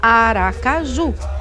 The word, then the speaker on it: Aracaju: Mbaracaju. Mbara por causa de Mbara, a filha de Aribé, que foi raptada e violentada. Só que os índios pronunciam bem rápido e ninguém ouve esse MB, só ouve Ara.